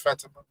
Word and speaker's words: Fatima: It's a Fatima or Fatima? It's Fatima. It's pronounced Fatima.